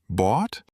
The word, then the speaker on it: bought: Is it bought? Yes! Bought. It sounds like bot, like a robot, but it is spelled very strangely.